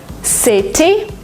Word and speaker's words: city: In American English, if you have a letter T in the middle of a word, sometimes you pronounce it as D.